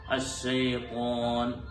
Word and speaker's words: الشيطان: അശ്ശൈത്വാൻ എന്നുള്ളത് ചുണ്ട് കൂടി ത്വ എന്ന് പറയേണ്ടതില്ല.